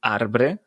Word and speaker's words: arbre: Que s'escriu arbre, però la primera R no es pronuncia.